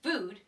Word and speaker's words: food: with practice practice practice I know that there's two O's can either say look look or ooh so the word food is spelled F oh